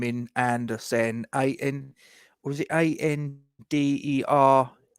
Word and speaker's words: Andersen: 5 yards, I've put in Andersen, Andersen. Yeah, that's how it's spelled.